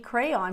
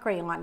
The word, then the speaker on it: crayon: said Oh you mean crayon said no it's not crayon it's cray and both pronunciations are correct so when you acknowledge